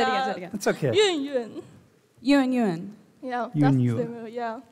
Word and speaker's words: Yunyun: Yunyun, yeah. You need to say it like you are dropping something on the ground, like Yunyun.